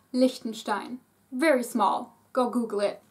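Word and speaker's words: Liechtenstein: have luxemborg luin luxemburger lonstein it is spelled with e e but the E is pronounced short lonstein very small go Google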